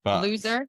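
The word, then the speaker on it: Loesser: I don't know how you pronounce that. Loser.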